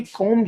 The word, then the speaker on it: comb: Action cover की थी, कॉम hair. कॉम hair मतलब होता है कंघा करना, ध्यान रखना, COMB, लेकिन बी साइलेंट है, बी प्रोनाउंस नहीं होता है, कॉम हेयर।